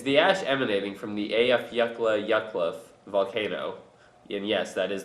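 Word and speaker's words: Eyjafjallajökull: the equator is the ash emanating from the afaka yak volcano and yes that is the correct pronunciation in Iceland is beginning to linger new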